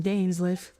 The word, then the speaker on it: Dainsleif: Oh, that's how you pronounce him, Dainsleif.